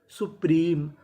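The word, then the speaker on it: supreme: पी एम ई मी अब देखिए यहां पे एम ई के आखिरी में इ है और आपको पता है कि इ का उच्चारण हमें नहीं करना तो मीनिंग क्या बनी? सुप्रीम सुप्रीम।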